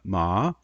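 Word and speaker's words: 麻: for to be numb ma and we'll call that a rising tone and so it starts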